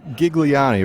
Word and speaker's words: Ghigliotti: I know it it's the H throws everybody off and so before I even say how I do pronounce my name I just say take the H off gotcha heck yeah and